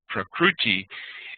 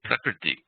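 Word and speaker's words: prakṛti: Vasant Lad and you talk about things, you're not going to make a mispronunciation like Prakruti instead of Prakriti.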